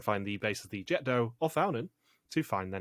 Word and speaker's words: Jet d'eau: He pronounced it Jet d'eau. And it is Jet d'eau or fountain.